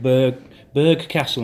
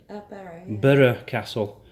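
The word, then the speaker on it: Burgh Castle: We went there the other week, Berg Castle, and I was saying it wrong. It's pronounced Burra. Burra Castle.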